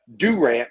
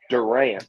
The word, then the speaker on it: Durant: Currently resides in Durant, Oklahoma, since people always mispronounce it. It's Durant, not Durant.